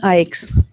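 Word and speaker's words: Eick: The last name is spelled E-I-C-K, but it's pronounced just like I-K-E, like we like Ike.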